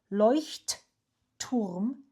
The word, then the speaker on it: Leuchtturm: By the way, this is how you pronounce it. Leuchtturm Drehgriffel.